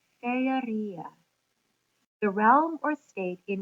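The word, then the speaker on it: Faërie: Um, and the way he spells it, you would pronounce something like Feria, the realm or state in which fairies have their being.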